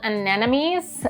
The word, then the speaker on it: anemone: I think these are called anemones, the one with the dark center in them.